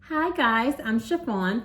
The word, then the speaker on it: Sha-Phawn: Sha-Phawn, pronounced like the material, and welcome to my channel.